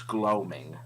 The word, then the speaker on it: gloaming: was um oh and Maddie says it's gloaming gloaming okay gloaming oh well I guess we wrote my both my dad I mispronounced that thank you for the